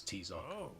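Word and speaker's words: Tizoc: Judging by that mask, you must be that wrestler, Tisok. I hate how they make them pronounce Tizok.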